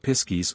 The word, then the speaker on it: piskies: classes the small people the Pixies pronounced piskies or or pises the sprig Gans and